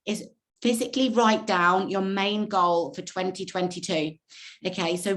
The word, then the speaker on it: Mayne: His surname is spelled Mayne, so Brian, Brian-Mayne, Brian Main, and he basically has created